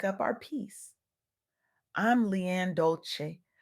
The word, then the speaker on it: Dolce: I'm Leanne Dolce, pronounced Doly, like sweet softness whispered in French.